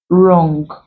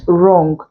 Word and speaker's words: wrong: then we also have words with WR where the W is silent leaving just the r to produce the ER sound in the word words like right wrong written you do not pronounce the W there so we have Earth